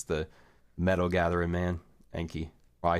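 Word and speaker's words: Ankylosaurus: the metal Gathering man anky I say ank I that's the right way to say it an Kai anai I guess an KY Laurus would be the right way to say it but I just call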